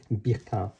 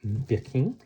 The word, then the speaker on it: Birkin: If you pronounce it in the French way, it would be Birkin, but no one says that. We all say Birkin because it's named after the British singer Jane Birkin, and she was very famous in France.